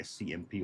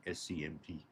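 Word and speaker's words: SC/MP: we go experimenting with the scmp stood for pronounced Scamp it's a national semiconductor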